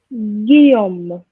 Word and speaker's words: Guillaume: And each time you see AU, you have to remember it's the sound O.